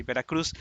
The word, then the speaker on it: Veracruz: not say veracruz but he will say vera cru where are you from i am from from veracru and he will uh extend the u for longer and will not pronounce the z at the end of veracruzo veracru is